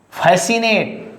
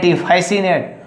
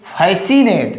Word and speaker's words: fascinate: Now fascinate, SINAT, fascinate. Don't say fascinate, fascinate.